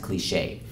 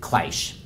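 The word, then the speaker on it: cliché: how cliche is back at my eye it's pronounced cliche in English class today David chasin was reading a readable Besson story out loud and he pronounced it clash everybody including mr.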